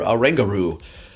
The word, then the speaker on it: Oranguru: I'm pretty excited for Oranguru. Sounds like kangaroo. I had to double check to make sure that's how you say its name because I was like, I can already see it now.